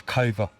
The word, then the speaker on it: Cover: It's Cover. Yeah. Cover. Cool. It's not the end of the world, is it? No. I'm a stickler for pronunciation on names. It's respect at the end of the day. Well, every teacher I've ever had It said cover. cover.